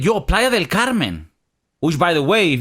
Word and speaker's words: Playa del Carmen: Spanish Playa Del Carmen if you don't know how to say that you're gonna get in the ass in Playa del Carmen Fredo Carmen yeah if you say it like that you're getting Ricky recording